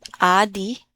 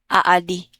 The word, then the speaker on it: adi: Not aadi. Aadi.